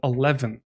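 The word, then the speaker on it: Elvon: going to use a typeface called 11. now it's spelt e-l-v-o-n i believe this is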